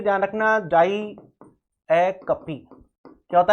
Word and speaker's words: diacope: Figure of speech होती है वो होती है डायाकपी। क्या होता है, डायाकपी, DIACOPE। ध्यान रखना प्रोनाउंसिएशन भी ध्यान रखना, डायाकपी क्या होता है प्रोनाउंसिएशन, डायाकपी, ठीक है।